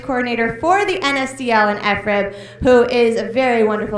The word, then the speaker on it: FRIB: And the FRIB, you don't say FRIB, it is FRIB. It is less fun, but that's how you say it.